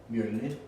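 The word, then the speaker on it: Mjölnir: Matthias, since you're Nordic, dude, how do you pronounce Mjolnir? Mjolnir.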